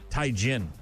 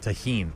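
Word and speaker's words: tahini: And then thanks to uh Matt and also Amy for correcting me on my pronunciation of Taiin. It's apparently pronounced taheen. I'm going to pronounce it Taiin because I'm I'm that's that's who I am as a human being.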